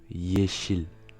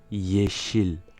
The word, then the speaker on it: yeşil: français mais une consonne, ressemble au Y anglais, c'est-à-dire qu'il se prononce y, comme dans yes. Et bien là ça va être la même chose. On le voit dans l'exemple suivant, yeşil, yeşil, vert.